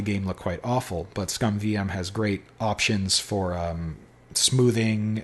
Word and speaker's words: SCUMM: But ScumVM has great options for smoothing, and it makes